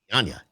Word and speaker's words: Dianña: Well, Now, Skip couldn't pronounce it, and I told him it's like lasagna. Yeah, so it's Dianña.